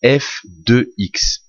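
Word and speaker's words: f(x): ça F entre parenthèses x alors ça se prononce FX ça veut dire que c'est le résultat ou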